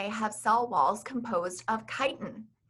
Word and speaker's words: chitin: learned that fungi have cell walls composed of chitin c-h-i-t-i-n is pronounced chitin this is a complex polysaccharide that